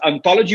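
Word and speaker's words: hauntology: But this idea of ontology is ontology with an H at the beginning, but then the H is silent, which for us in Spanish and Portuguese is very common.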